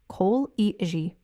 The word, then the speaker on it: colleague: Notice the stress lands clearly on that first syllable.